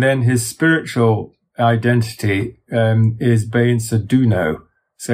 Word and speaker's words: Beinsa Duno: Peter Deunov, and then his spiritual identity is Beinsa Duno. So it's quite similar. The Duno and the Deunov, or the Deunov, are similar. But the Beinsa Duno is the being, if you like, as I